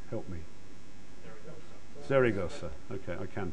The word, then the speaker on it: Zaragoza: And then there's some mission analysis being done by the university in Spain that I can never pronounce. Help me. Zaragoza.